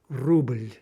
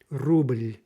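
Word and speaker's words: рубль: Ruble, ruble. Okay, again, it kind of depends on how you say it, how emphatically you say it. But if we're being strict, we would say that's one syllable. Indeed, we would say that again, especially if it were in a poem or something. Ruble, ruble. But almost inevitably, you're getting you're getting a little vowel intruding on that L.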